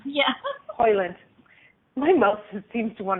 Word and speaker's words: Hoyland: Am I pronouncing your name right? Yes, Hoyland. Yeah. Hoyland.